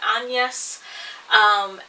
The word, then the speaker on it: Agnes: but or is it spelled exactly like agnes but you uh say it as like anyas and it's just i